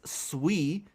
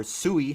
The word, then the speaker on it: Sui: Today we're diving into all things sui and then or sooie however want however you want to pronounce it and um tomorrow I